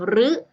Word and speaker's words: ฤ: ขาด นะ คะ ว่า ตัว เรือ ของ เรา เนี่ย สามารถ อ่าน ออก เสียง ได้ สาร เสียง เสียง ที่ 1 คือ เสียง ลิ เสียง ที่ สอง คือ เสียง รึ และ เสียง ที่ 3